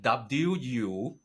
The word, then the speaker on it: wuxia: It's actually just a romanization of a Chinese word, but it's spelled WUXIA.